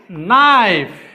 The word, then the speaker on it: knife: Knife. তাহলে কে আছে, we have K, but K is silent.